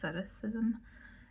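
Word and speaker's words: asceticism: It's spelled eskepticism, but it's as aceticism and it's like where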